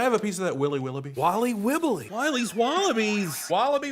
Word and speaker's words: Wiley Wallaby: Can I have a piece of that Willy Willoughby? Wally Wibbly. Wiley's Wallabies. Wallaby Wallies? Wilby Wallaby? It's pronounced Wiley Wallaby.